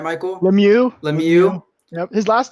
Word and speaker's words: Lemieux: Lemieux.